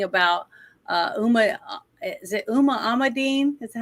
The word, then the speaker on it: Huma Abedin: Clinton stuff talking about uh Uma is it Uma Amadine? Is that how you say her name? Which one? Remember the woman that was like Hillary Clinton's uh assistant? Yuma Aberdine. Yeah. Huma Abedine.